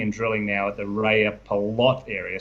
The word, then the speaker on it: Rajapalot: drilling now at the Rajapalot area. So you got that pronunciation pretty close. Y's are J's in J's are Y's, I should say, in Finnish.